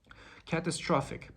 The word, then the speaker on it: catastrophic: assuming that you had hard time pronouncing the the last part of the word which is phic catastrophic basically it means involving or causing sudden great damage or suffering the very similar word in pronunciation i could find was philosophic so catastrophic sounds like philosophic okay another word was